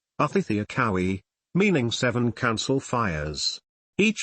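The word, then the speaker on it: Očhéthi Šakówiŋ: Culture etymology: the Sioux people refer to their whole nation of people, sometimes called the Great Sioux Nation, as the Osheti-Sakawi, pronounced Othithiakowis, meaning seven council fires.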